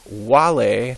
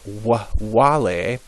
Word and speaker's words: vale: Vale, that's how it's pronounced. Vale.